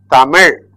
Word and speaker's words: Tamil: This is ta, mi, il. Tamil.